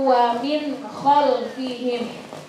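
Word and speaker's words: وَمِنْ خَلْفِهِمْ: Nah, jadi min baini aydihim saddaw wa min khalfihim. Wa min khalfihim, bukan wa min salah. Karena itu hukum bacaannya adalah idhar halqi, jadi bacanya harus jelas. Wa min khalfihim.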